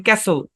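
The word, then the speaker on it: castle: একটা উদাহরণ দেখি সি এস টি এল ই এখানে কি সাইলেন্ট টি সাইলেন্ট এই শব্দটা উচ্চারণ ক্যাসেল ক্যাসেল এই এস টা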